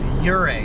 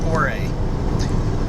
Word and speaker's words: Ouray: he educated us that the local pronunciation is Ure not or now in my defense